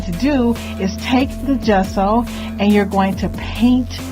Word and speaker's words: gesso: Montague, informed me that I didn't know if it was a soft G or hard G, but anyway, it's gesso. And I have a few videos where I'm calling it gesso, but it's gesso, people.